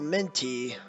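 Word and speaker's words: Minh T.: This girl, Minty, M-I-N-H-T, I really don't... I understand the H is silent, but I don't know, it's weird spelling.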